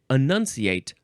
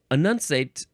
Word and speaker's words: enunciate: as in the example enunciate all the syllables when I say it this way I am not annunciating if I say annunciate all the syllables that's not enunciating no no no no